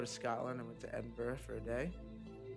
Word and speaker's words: Edinburgh: I went to Edinburgh for a day. It's fucked up that you guys pronounce it like that, because that's not how it's spelled.